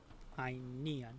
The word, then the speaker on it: Inan: Uh so they they would say that that is pronounced with the emphasis on the second syllable, right? Yes. Inan.